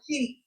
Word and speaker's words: chic: She's really showing cheek right there. I look at I pronounce C H I C as cheek.